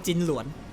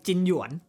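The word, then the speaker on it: Jing Yuan: ๆ ่า ใน พล จิน หลวน จิน หยวน ต้อง อ่าน ว่า จิน จิน หยวน โอเค ไม่ มี โอเค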